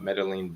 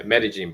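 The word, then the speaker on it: Medellín: pretty yeah metagene Buzz yeah thank you for correcting me in Columbia folks with a c o l m b i a not spelled like other Columbia almost like gajin you know instead of gajin you know in Japan you say metagene right metagene guys metagene but yeah um cool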